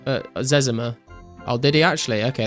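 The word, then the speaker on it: Zezima: He said it's Zimmer. Uh Zimmer.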